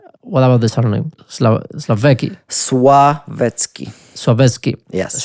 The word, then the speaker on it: Sławecki: like how you pronounce it? What about the surname? Slavecki. Sławecki. Yes. Sławecki.